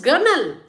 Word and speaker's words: gunwale: Now, when you write gunwale, you spell it as g u n w a l e, but you pronounce it as gunwale.